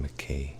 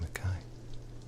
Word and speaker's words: Mackay: Mackay is always pronounced McKay here, and that's wrong. It's supposed to be Mackay.